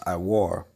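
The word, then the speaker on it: עור: All right, that word skins in the Hebrew is going to be, it's pronounced iwar.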